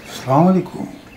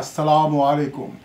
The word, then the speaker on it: আসসালামু আলাইকুম: সালাম আলাইকুম। শব্দটা তো সালাম আলাইকুম না। একজন শিক্ষক হয়ে আপনি বিকৃত উচ্চারণ করবেন? আপনার কাছে তো সবাই শিখবে। শব্দটা হচ্ছে আসসালামু আলাইকুম।